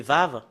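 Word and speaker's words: וו: la deuxème partie c'est c'est vave le le W c'est V et c'est V quand le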